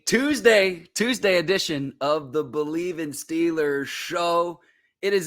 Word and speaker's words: Bleav: do it use our promo code believe that's on your screen right now it's spelled bleav at betonline.ag to get